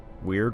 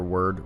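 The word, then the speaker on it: Wyrd: Weird or Word Reconstruction. I'm just going to call this Word Reconstruction. I know it can be pronounced both ways, but I'm just going to stick with Word. It's a little easier for me to say on the fly.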